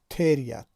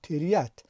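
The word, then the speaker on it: тереть: ما وقتی که تلفظ میکنیم نمیگوییم که تریت، ما میگوییم تریت، یعنی هیجای دوم یت بلندتر تلفظ می شود و به خاطر اینکه زده در بالای هیجای دوم بالای حرفی ی افتاده است.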